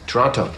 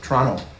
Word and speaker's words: Toronto: where were we born Toronto Toronto Canadians don't pronounce the T some com guard is